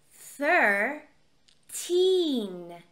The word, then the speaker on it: thirteen: the first number three look at my lips fur teen okay that number is not the same as thirty thirty thirteen thirty okay